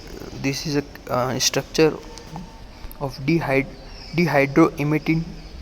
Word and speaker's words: dihydroemetine: You can see that this is a structure of dihydroemetine. So not a imidine, it is a dihydroemetine.